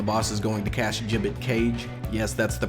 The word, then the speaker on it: Gibbet Cage: 1, the boss is going to cast Gibbet Cage. Yes, that's the pronunciation.